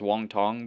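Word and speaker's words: Wang Cong: Ariana Lipski da Silva versus Kong Wang or Wang Kong or Wong Tong. I'm pretty sure. Apparently, her name's supposed to be pronounced Wong Tong, but I don't know if that's just racism bait.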